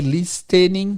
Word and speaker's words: listening: Eu falei listening porque tem um T, mas não se pronuncia, tá?